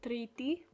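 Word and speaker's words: Τρίτη: now monday in the top left there is pronounced deftera tuesday is triti wednesday is tatarti thursday is pemti friday is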